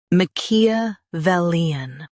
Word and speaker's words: Machiavellian: Emphasize vel and keep muck soft.